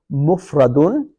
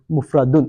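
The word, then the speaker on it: مفرد: Okay, so we got mufradun, yeah, mathani, and jam'un. Okay, I'm pronouncing the last bits, brothers. Mufradun.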